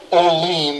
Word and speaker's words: Olean: I'm Olean. That rhymes with gasoline, but don't let that confuse you.